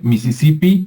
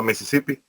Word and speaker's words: Mississippi: se pronuncia ya correctamente en inglés americano es como así como como se escucha en español es lo mismo a Mississippi e Mississippi Pero se